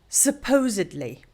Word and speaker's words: supposedly: Meaning according to what is generally assumed or believed, it is pronounced supposedly.